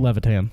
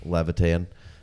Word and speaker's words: Levitan: one from uh Adam I always mispronounce his last name levitam Levitan um 15 to 64